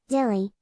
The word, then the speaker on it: Delhi: delhi delhi slash hindi pronunciation dilly punjabi pronunciation dilly or do pronunciation delhi officially the national capital territory nct of delhi